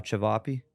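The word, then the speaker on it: ćevapi: which is like the comfort food is uh chiap so that's c v a pi I it's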